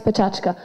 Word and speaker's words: PechaKucha: Some people pronounce it Pecha Kucha, others PechaKucha.